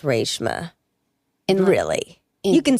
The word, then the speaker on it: Reshma: But it's supposed to be pronounced Reshma.